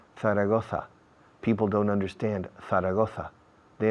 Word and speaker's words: Zaragoza: Don't say Zaragoza. People don't understand Zaragoza. They understand Zaragoza. Porque la ceceo, Zaragoza, Barcelona, suena TH en inglés.